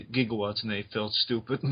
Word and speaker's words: gigawatt: was being named and they they're wondering if it was supposed to be pronounced gigawatt but at the time it was jigawatts you know they changed it over time and like right after the film was turned to gigawatts and they fill stupid